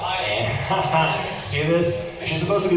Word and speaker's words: Ayn: Is it Ann or Ayn? Yeah, Ann.